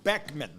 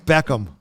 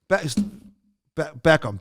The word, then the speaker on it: Beckham: mini movie reviews all right Bend It Like Beckman okay Beckham wait wait how do you say his name Beckham Beckham Beckham okay his wife is in the the